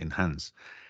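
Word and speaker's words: Enhance: esto Adobe en anses este no somos se pronuncia exactamente en Hans es como un mejorador vale si grabáis grabáis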